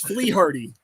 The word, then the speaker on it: Fleharty: famous your wife's watching this dude it is fle hardy fle hardy okay all right all right so